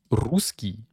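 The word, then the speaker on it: русский: on prend le mot ruskii et bien c'est pas ruskii Ruski ruskii rus non c'est Rusk Rusk Ruski voyez on on accentue bien le rou ruskii ruskii ruskii voyez je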